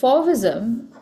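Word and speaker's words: Fauvism: It's spelled f a u v i sm. So fism uh the word for in French is uh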